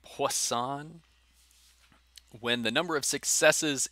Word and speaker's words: Poisson: is the poisson distribution a french guy so you say his name poisson when the number of